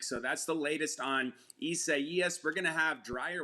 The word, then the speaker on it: Isaias: This one, the pronunciation is going to get a lot of people, including me, but this is Isaias, ninth named storm of the tropical season, and